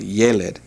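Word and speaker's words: ילד: See the accent above the y. Yelled.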